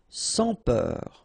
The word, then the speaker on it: sans peur: Sans peur. Don't pronounce the final S here.